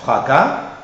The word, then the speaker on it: fracas: Attention aussi pour la graphie AS, où le S final n'est pas prononcé, et seulement dans les cas suivants. Hein. Pour les terminaisons verbales, tu lis A sans plus, tu iras, tu parleras, et dans quelques mots comme bras, chat. Et aussi par assimilation à un A antérieur, et donc on lira aussi la terminaison fracas, matelas. Fracas, matelas.